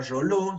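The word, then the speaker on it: Reuleaux: Estas juntas, normalmente un investigador de apellido Realeauc, o sea, Roló, se pronuncia, ya lo van a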